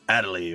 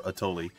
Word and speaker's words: Atoli: go hang out with Atoli or Atoli, depending on how you want to say her name.